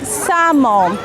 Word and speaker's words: salmon: silent letter almond like salmon not salmon no salmon like wood should could talk walk in all these words we don't pronounce l it's a silent letter here like the video thank